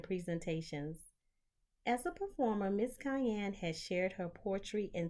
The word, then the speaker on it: Kiane: Now, I know it sounds like the pepper, but it's spelled very differently. Kiane.